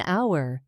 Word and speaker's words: hour: So you'd say an hour because the H is silent, making the vowel sound dominant.